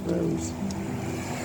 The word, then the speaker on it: Rhos: It's pronounced Rhos.